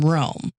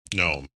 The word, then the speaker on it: Nome: So while most teams started from the Nanana side, Seppala took off from Rome. Nome. No. Hold, please. Nome. And then they went to the Vatican. What the fuck? Rome. I get it. It rhymes.